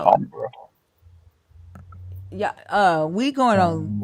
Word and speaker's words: timbre: So maybe Accent, voice, timbre. It's all fair game. absolutely. It's actually pronounced Yeah. Tombra.